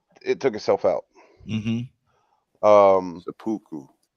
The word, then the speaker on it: seppuku: Seppuku. Sabuku.